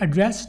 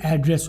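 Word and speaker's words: address: अच्छा, ये एड्रेस नहीं होता, ये एड्रेस होता है, ठीक है. इसी स्पेलिंग में दो तरह से इसे पढ़ा जाता है, एड्रेस और एड्रेस, ठीक है. एड्रेस होता है खिताब करना या मुखातिब करना, एड्रेस होता है पता, ठीक है, ये याद रखिए.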